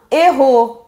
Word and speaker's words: héros: Ah, non, un héros. Voilà. On ne peut pas faire la liaison. Pourquoi? Parce que héros a un H aspiré. Donc, on dit un héros et pas un héros.